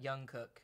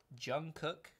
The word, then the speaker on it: Jungkook: Oh, I'm getting, apparently it's Jungkook. not Jungkook.